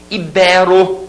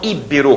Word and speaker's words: ibero: eu gostaria que vocês memorizem ibero e não íbero como a gente escuta por aí tá bom ibero a